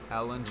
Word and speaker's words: Elland: Elland Road. Oh, you're chatting shit. You're chatting so much shit. Elland rhymes with Bellend.